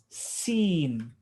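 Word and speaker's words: سين: This is the letter Seen. Seen. Seen. Seen. Yeah, seen. Seen. Yeah, just like have you seen, right?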